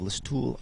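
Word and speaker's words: Listowel: and then they uh changed it to LOL which is actually spelled like list towel so there you go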